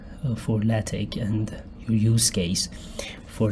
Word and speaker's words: LaTeX: LaTeX is pronounced LaTeX or LaTeX, definitely not LaTeX, and it is a document preparation system for high quality publishing material.